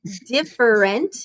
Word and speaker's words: different: we say it different try saying different it's three syllables different another one is